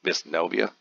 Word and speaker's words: Wisniowo: This here, according to pronunciation, is Wisniowo.